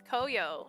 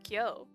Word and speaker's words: Koyo: And his name's Koyo. If you have dyslexia like me, you could pronounce it as Kyo.